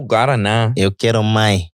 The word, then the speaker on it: Guaraná: How you say it? Guarana. The Brazilian original. Guarana. Actually, Guarana. Guarana. Because the accent at the end. I made sure there was a teaching segment. Guarana. Eu bebo Guaraná.